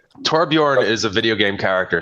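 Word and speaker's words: Torbjörn: So my real name is Tborn which is like Thor bear the bear of the you know Thor the thunder god but is a little bit hard to pronunciate I guess. Torbjorn is a video game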